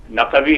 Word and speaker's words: نقوی: اچھا نام ہے ماشاءاللہ۔ ہم اصل میں عادی ہوں نقوی کہنے کا، جو کہ صحیح اس کا تلفظ ہے، اس لیے میں بعض